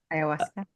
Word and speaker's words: ayahuasca: Ayahuasca. Ayahuasca.